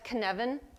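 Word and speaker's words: Cynefin: is called Canan um the reason you can't pronounce it the way it looks is because it's a Welsh word and so that's Canan and Canan is about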